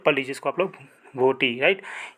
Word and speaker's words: भोटी: तो कौन सा दोस्तों लैंग्वेज है वो, तो उसका नाम है जो भोती, BH, राइट। मैं इसको स्पेलिंग देता हूँ एक बार आपको, BHOTI, राइट। पढ़ लीजिए इसको आप लोग, भोटी, राइट।